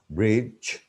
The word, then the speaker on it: bridge: The fifth trick, D is silent before G, bridge, edge, budget, fridge, judge, knowledge, and badge. Number 6, D is silent before J, adjective, but many Bengali speaking people say adjective.